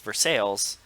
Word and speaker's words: Versailles: talking about but like actually the town in Pennsylvania is pronounced for sales incorrectly but sorry just